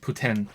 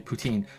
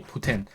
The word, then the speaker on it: poutine: or maybe or like it's actually pronounced Putin but uh but everywhere else apart from Montreal and apparently um uh Moncton uh say poutine but it's meant to be Putin like uh like um